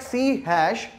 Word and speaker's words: C#: Alright, so as you can see, like here, we are writing it like C#, but what we are pronouncing it? We are pronouncing it C#. Why we call it so? Basic idea is from the musical background, where in the Western music, we have this notation for the higher notes.